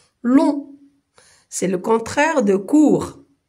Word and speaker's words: long: Il y a aussi long et on ne lit pas le G. long, c'est le contraire de court.